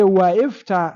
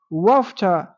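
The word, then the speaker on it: وافتح: That is, you don't say waifta, no, you say wafta, wafta.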